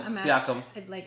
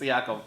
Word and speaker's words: Siakam: They still have Pascal Siakam.